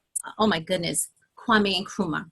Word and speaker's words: Kwame Nkrumah: Marcus Garvey, Elijah Muhammad, Malcolm X, oh my goodness, Kwame Nkrumah, right?